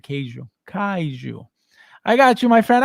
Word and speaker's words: kaiju: k k k Kaiu ka yeah said kou Kaiju I got you my friend I got you